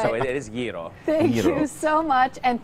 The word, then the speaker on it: gyro: You've got to be able to roll your R, so it's gyro.